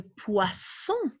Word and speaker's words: poisson: ici 2 est ce parce qu'on prononce ce vous voyez la différence entre poison et poissons alors regardez bien vous